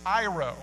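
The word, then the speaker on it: αἴρω: The word that most Bibles translate as remove or cut away is iro, pronounced like Cairo without the C.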